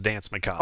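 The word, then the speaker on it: Danse Macabre: It is pronounced Dance Macabre.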